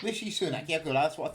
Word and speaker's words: Rishi Sunak: Anyone know how to pronounce his name? Sorry? Rishi Sunak. Rishi Sunak.